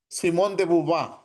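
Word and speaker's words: Simone de Beauvoir: muy famosa francesa voy a pronunciar tal como se escribe Simone de beavoir Tal como se escribe eh Simón de bub algunos conocen este texto no he leído nada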